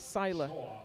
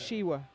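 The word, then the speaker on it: Siła: a Polish owner and I've always called it Sila I've recently learned that it's uh pronounced shiwa and there's no way I can get that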